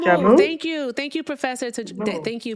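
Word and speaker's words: joumou: Professor said soup Jumu. jamu.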